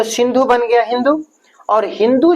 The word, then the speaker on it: हिंदू: वैसे ही क्या, जो अपने पर्शियन लोग थे, सिंधु को उन्होंने कहा क्या, हिंदू, क्योंकि वो जो 100 का उच्चारण पर्शिया में हो होता है, तो सिंधु बना हिंदू।